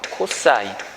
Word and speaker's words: cos: 빗변과 밑변을 짝지은 거를 우리가 뭐라고 하냐면요, COS라고 일반적으로 쓰고요. 얘를 코사인이라고 읽어요. 코사인.